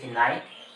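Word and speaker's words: knight: আবার কে এন আইস নাইট। আবার এই একটি নাইট। দুটো একই উচ্চারণ আলাদা করার জন্য এর সামনে একটা কে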